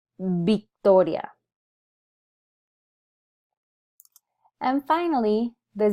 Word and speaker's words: Victoria: through those sounds there I wanted to call your attention to the V because in Spanish this sound is actually produced as but our instinct because of our influence from English is to want to pronounce a word like Victoria as Victoria in Spanish but in reality we don't have a the sound in Spanish so it defaults into Victoria and finally the Z